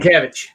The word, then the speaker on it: Sienkiewicz: you were just talking about, Bill, I can't pronounce last name. Sienkiewicz.